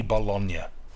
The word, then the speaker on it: Bologna: a great many things why do you call it bologna in america that clearly says bologna people in italy say bologna you as americans say spaghetti bolognese you don't say spaghetti baloney in my ass do